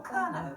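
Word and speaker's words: Kernow: this is Cornwall or KERO as it's pronounced in Cornish County with its own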